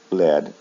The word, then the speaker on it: led: The next one is lead. It follows the same pronunciation pattern. Lead, led, led. However, the spelling is different, and this is important for you to see. With the base form, instead of EE for the spelling, it's EA, but the sound is the same. In the past form and in the past participle, there's no A, and it is pronounced with a short E sound.